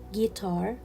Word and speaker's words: guitar: u in these words guitar guitar so i will not pronounce letter u guitar guilty guilty i will